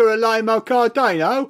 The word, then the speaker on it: Cardano: I think he's Italian he is Italian J cardano oh lovely no like J cardano well it was seized upon by his Relentless